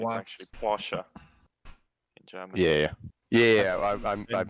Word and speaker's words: Porsche: Well, to be pedantic, You it's watched- actually Porsche in German. Yeah. I mispronounced it on purpose.